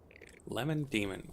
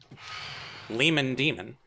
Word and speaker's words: Lemon Demon: at this point is whether it would be pronounced lehman demon or lemon demon or some truly cursed variant that is not the correct pronunciation of either oh i'm gonna need